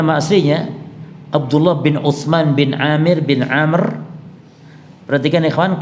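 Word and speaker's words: عمرو: AB bin Amir bin Amr perhatikan Ikhwan Kalau yang ini dibaca Amir kalau yang pakai wau Umar pakai wau itu bacanya amrun amrun atau Amr Kalau yang ini Amir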